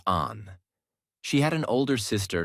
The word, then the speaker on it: Anne: People called her Anne, pronounced Anne.